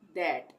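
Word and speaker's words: that: उसी तरह से फादर में भी टी एच आता है तो वहाँ पे भी द का उच्चारण होगा।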